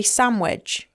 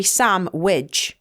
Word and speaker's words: sandwich: how it's written but you don't even say that you say swich yeah so you say sam wi yeah so s m